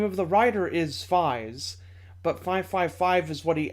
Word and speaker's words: Faiz: title is written out combinator 555 but it's pronounced Phi's the name of the writer is Phi's but 555 is what he enters on his